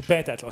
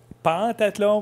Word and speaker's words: pentathlon: On dit pentathlon. Ça s'écrit pentathlon, mais on dit bel et bien pentathlon.